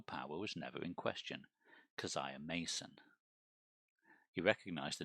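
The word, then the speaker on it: Keziah: kazaya kzia um um when I listened to um on YouTube the dreams in the witch house they said kaziah okay so that's what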